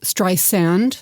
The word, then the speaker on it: Streisand: correctly by the way you might have been a little heavy on the second s it's pronounced stri sand I feel like this is that scene with Bradley Cooper in that Paul Thomas Anderson movie stri sand St sand St sand not Strand and she actually as